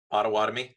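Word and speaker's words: Pottawatomie: I can never pronounce that word, sir. What is it, please? Ottawatomie.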